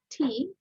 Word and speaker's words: tea: বাতাস বের হবে না যে টি বলবে তার বাতাস বের হবে when it is air come then it is pronounced is correct so you have to pronounce tea tea tea okay বের